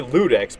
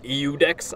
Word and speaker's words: Ludex: Some people say Ludex, but it's an I, isn't it? Isn't it like Eudex?